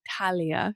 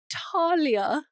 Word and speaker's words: Thalia: um it's probably because we grow up with French yeah so that's very like a French thing not like pronuncia the H like Talia you know so you